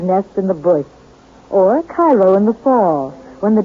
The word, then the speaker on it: Cairo: Oddly enough, though, Illinois is sometimes referred to as Egypt because the fertility of the soil in and around Cairo, or Cairo giving it the Illinois pronunciation, resembles that of its Egyptian namesake.